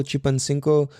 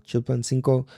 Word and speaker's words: Chilpancingo: Oh, and Nate is out in fucking deep ass Mexico right now, out in Acapulco, Chilpancingo, I think I said it wrong. Chilpancingo.